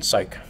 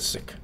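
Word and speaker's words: Cyc: or whatever Doug Lin it's sick I mean psych I said sick I think that's my preferred pronunciation because it is just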